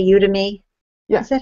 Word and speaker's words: Udemy: But he has a great online course for ebooks on, am I saying it correctly when I say Udemy?